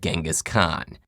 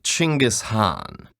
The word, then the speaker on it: Genghis Khan: Khan I see your honor is familiar with Genghis Khan the 13th century warlord whose military campaigns killed millions and left nothing but destruction in their wake objection first of all it's pronounced chingus Han really in Mongolia yes regardless he was one